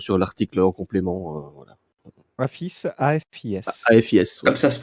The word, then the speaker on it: AFIS: vous tomberez sur sur l'article en complément voilà affice AFIS AFIS comme ça se prononce j'ai oublié de faire ma super van